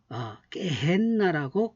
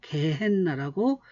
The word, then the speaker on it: 게헨나: 그래서 신놈의 골짜기를 어 와드에르 라바비라고 하는데 예수님은 헬라어로 깨헨나라고 개헨나라고 어 그렇게 발음을 하셨습니다.